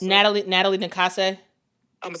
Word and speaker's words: Nakase: So, but again, I don't know how to pronounce it. How do you say her name, coach for Golden State? Nakasa? Natalie Nakase.